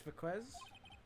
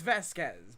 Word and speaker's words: Vasquez: Miss Viquez? It's on TV every week. I don't know why I keep saying Viquez. It's Vasquez, but...